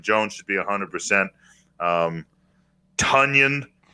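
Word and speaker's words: Tonyan: should be 100 um tonion rhymes with funyun will be a hundred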